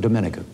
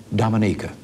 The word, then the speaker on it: Dominica: minister Eugenia Charles of Dominica I call that wrong she pronounces it Dominica she is Chairman of